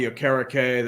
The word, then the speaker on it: Okereke: I thought it was the same too, and then I hear it's Okereke. It's like, damn. It's like saying you think Chuba Hubbard is pronounced Chubba Hubbard, and Oh, then when yeah.